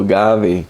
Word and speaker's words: Agave: Blue Agave. Blue Agave, okay, that's how you pronounce it.